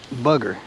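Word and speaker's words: Woolly Bugger: You call it a booger or a bugger? It's because it's not spelt booger. It's spelt bugger, I guess.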